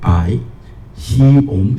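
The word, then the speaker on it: 白熊: Bo, ai, bai, bai. Xi, ong, xiong.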